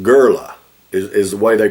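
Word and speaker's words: Göller: So I went back and I researched how to pronounce that O with the two dots. That is actually a German letter, and the way that it was done online, the sound is more like a sound. So Goller is actually how it's supposed to be pronounced.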